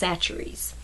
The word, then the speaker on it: Chachere's: see it's spelled with a CH a it's pronounced chachere's this is a Creole seasoning this is the